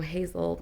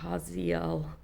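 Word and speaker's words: Hazael: I fucking love fantasy because they're just like, I don't know, Hazel, no, Haziel.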